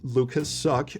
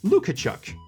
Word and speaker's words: Lukaszuk: The brothers were originally from Poland, and their last names were, well, Lukasz Suck, or as it's actually pronounced, Lukachuk.